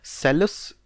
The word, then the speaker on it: Salus: सेलस पॉपुली एस्ट सुप्रीमा lakes. मैं काम करता हूँ, स्पेलिंग बोल देता हूँ, वो तुम लिख लो, SALUS।